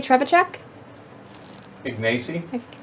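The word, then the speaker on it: Trzewiczek: You can't say Trevachek? Ignacy? I can say Ignacy Oh, that Trevachek. Trevachek.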